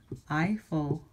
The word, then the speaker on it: Eiffel: aye aye aye aye the reverse II I says I so you could have words like have you ever been here to the e I Eiffel Tower or have you heard